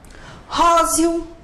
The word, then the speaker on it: róseo: Como que você pronuncia? Róseo ou róseo. O E tem som de I.